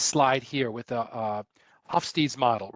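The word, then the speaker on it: Geert Hofstede: here with the uh off Steve's model right or guert hofstede is a little bit more of the the Dutch pronunciation um I just looked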